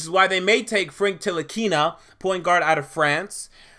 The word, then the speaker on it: Ntilikina: did, but I think the N is silent, and I believe it is Ntilikina. Maybe it's Ntilikina, but it should be Ntilikina.